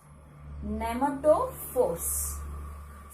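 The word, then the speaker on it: pneumatophore: new terminology nematode force nemato force see the letter first p letter is silent letter okay silent letter nemato force look at the spelling p n e u okay what is that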